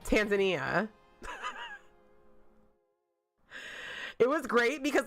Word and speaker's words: Tanzania: He was pronouncing it Tanzania. Tanzania. Like Tasmania, but Tanzania.